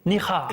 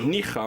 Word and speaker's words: Níjar: Alors si je prononce bien, c'est Níjar. Níjar, oui, c'est ça.